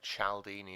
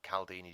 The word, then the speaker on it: Cialdini: This is down to a guy called Professor Robert Cialdini, or Caldini, depends on how you want to pronounce it.